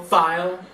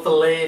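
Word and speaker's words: filé: this down was a little gumbo file, or gumbo fillet if you want to happen to say it correctly.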